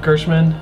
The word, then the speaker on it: Gerstmann: way, that GameSpot video you linked this week of Jeff Gerstmann and is it Gerst? Gerstmann. Yeah, I'm saying it right.